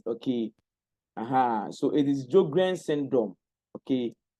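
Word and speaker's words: Sjögren: Surges syndrome. What? Sur the S is silent. Let me let me type it in the chat box. Okay. The S is silent. Okay. Uhhuh. So it is Joan syndrome.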